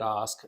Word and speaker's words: Ask: So if you just look for Osk, so my last name, of course, is spelled like ask. So if you're listening right now, it's ASK, Yeah. pronounced Osk.